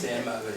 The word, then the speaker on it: Maes: En fait, à Paris ou dans le sud, ils m'appellent toujours Maes, mais en fait, c'est Maes. C'est M-A-E-S. Oui, Voilà. ici, ça se prononce comme ça.